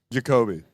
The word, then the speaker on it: Yakoby: Yacoboy, I think. Yacoboy. Is that his last name? That one's my favorite. What's going on, honestly? And so, how do you say your last name? Jacobi.